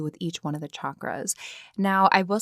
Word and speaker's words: chakras: each one of the chakras now I will say right off the bat I do pronounce them chakras like chalk or chaturanga um that's my understanding